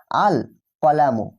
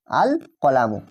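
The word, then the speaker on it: الْقَلَمُ: যদি যুক্ত করি সেক্ষেত্রে লাম হরফটি কিন্তু স্পষ্ট আলাদাভাবে উচ্চারিত হবে। দেখো এখানে আমরা যখন আলিফ লাম যুক্ত করে পড়ছি তখন কিন্তু লাম হরফটাকে আমরা উচ্চারণ করছি। আল কলামু আল কলামু আলিফ লাম জবর আল।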